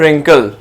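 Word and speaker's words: wrinkle: Next आ रहा है रिंकल, sixth one हमारे पास है रिंकल, जिसमें हम किसको सर्कल करेंगे, W को, बिकॉज W की जो साउंड है वो हमारे पास साइलेंट साउंड मौजूद है।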